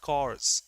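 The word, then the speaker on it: corps: Remember NCC C National National Cadet Cors Pronunciation is cors army soldiers.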